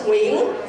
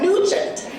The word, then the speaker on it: Nguyen: predominantly white community, and no one knew how to pronounce my last name, which is Nguyen, because no one had ever met a Vietnamese American person before. So growing up, I would hear variations such as Nguyen, Nguyen, and even Nugent.